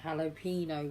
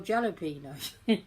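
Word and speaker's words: jalapeño: And that's a jalapeno one, which I used to call jalapeno. So, somebody said, "No, it's jalapeno.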